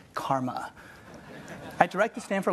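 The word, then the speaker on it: CCRMA: way that surance to ccrm eight in this pronounced karma I direct the fan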